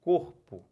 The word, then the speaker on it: corpo: oxítona olhem para cá paroxítona quando a penúltima é tônica olha o exemplo corpo né quem é sílaba forte então última penúltima penúltima é forte tá com dúvida Faz